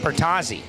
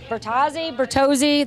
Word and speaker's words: Bertozzi: Bertozzi. Bertozzi, the toes. And right, Bertozzi, if you're Louis Bloom, Bertozzi, who wants to be like as Italiano as possible. Is he Italian? Louis Bloom? No. Oh, Bertozzi?